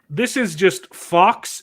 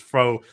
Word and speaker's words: faux: And this is just Fox empowerment, or sorry, I pronounce it Fox, but it's faux empowerment handed to these characters on silver platters because whammon.